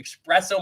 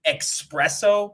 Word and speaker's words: espresso: agreed to me but i always say expresso but i guess it's espresso it is fresh special